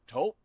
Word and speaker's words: Taupe: Or taupe insurance. Maybe. I don't think so. Say it right. That's t o p. That's taupe.